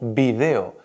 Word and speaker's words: video: Palabras como por ejemplo vídeo, que decimos normalmente en castellano, es tan correcto como video, que se suele decir en Latinoamérica.